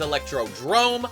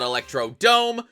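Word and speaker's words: Electrodrome: it's been 9 years the name is electrod Drome not Electro Dome and here's a little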